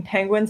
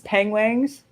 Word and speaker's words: penguins: I watched a nature program that was done by Benedict Cumberbatch where he kept pronouncing penguins as pengwangs.